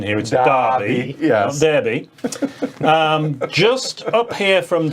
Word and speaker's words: Derby: we see derby i want to stress the pronunciation here yeah derby um just up here from derby um there's